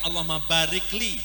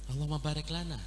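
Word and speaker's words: اللهم بارك لنا: Dan bacaannya bukan Allahumma barikli. Jangan bacanya Allahumma barikli atau Allahumma barik lana. Allahumma barik lana.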